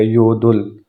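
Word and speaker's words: 여덟: letter का यूज हो तो यह थर्ड वाला पढ़ा जाएगा यो दुल वो जो बीएप है वो प्रोनाउंस यहां पर नहीं होगा वो साइलेंट होगा एट को यदल पढ़ते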